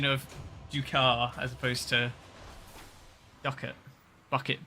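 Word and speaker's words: Ducat: duits yeah I used I used to say duits it's pronounced duar I've been I've been watching um recently I've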